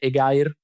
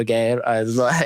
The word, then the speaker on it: EGAIR: I think the pronunciation is, we settled on EGAIR or EGER. We never found a proper way to pronounce EGER. I guess EGER can work.